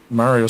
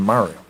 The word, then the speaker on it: Mario: you say it wrong because Mario says his own name Mario it's me Mario yeah see now you're